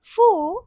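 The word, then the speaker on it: ふ: Next line हा ही फू हे और हो मीनासान हमारी जो हा की लाइन होती है ना उसमें हु नहीं होता हमारा फ होता है। ठीक है? तो इसको गलत प्रोनाउंस नहीं करना।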